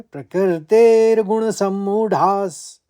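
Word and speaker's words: प्रकृतेर्गुणसम्मूढाः: पहले चरण में एक ही शब्द है। तो इसको आप दो भागों में बांट लीजिए। प्रकृतेर गुण और समूढास प्रकृतेर गुण समूढास एक साथ बोले प्रकृते गुण सम्मुढास दूसरे चरण में दो शब्द हैं।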